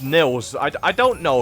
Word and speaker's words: Niles: this dragon this is niles welcome to town square spyro begin exploring by gliding to that area with the bulls use the right stick to get a good look i think it's pronounced nils i i don't know